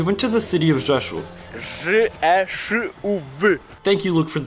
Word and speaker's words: Rzeszów: A few days later, we went to the city of Rzeszów. Thank you, Luke, for the pronunciation, is a city located near the border between Poland and Ukraine.